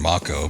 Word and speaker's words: Mako: to me but um I did say Mako and people had uh issues with that they're like why don't you say moo well that's how they say it in the game so that's just what I'm going to go by well what the